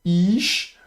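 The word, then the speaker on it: אִישׁ: de nouveau on a le alf muet avec le rire vocalisé donc ça va être simplement prononcé i avec le yod en mer de lecture et le shin donc ich.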